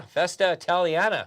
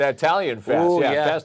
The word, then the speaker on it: Festa Italiana: weekend Festa Italiana yeah Festa Italiana there you go got to say it right Marco just outside the studio far what did I say you said italan Itali I can hear them